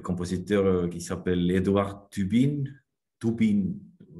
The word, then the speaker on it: Tubin: Tubin en estonien, mais ça s'écrit T-U-B-I-N.